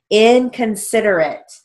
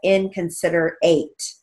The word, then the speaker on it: inconsiderate: We don't pronounce it as inconsiderate. So it's a short A, not a long A.